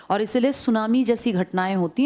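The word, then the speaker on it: tsunami: मैं तो सुनामी की बात करूँ ना, सुनामी जापानी भाषा का शब्द है जिसमें टी साइलेंट लिखते हैं, ऐसे बोलते हैं, लिखते हैं टी सुनामी, बोलते हैं सुनामी।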